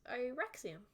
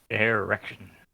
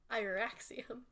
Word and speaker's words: Irexium: Erection. Do you say that out loud to him? Yes, as if tasting the name, trying to figure out how to pronounce it. And Irexium goes, no, not erection. Irexium.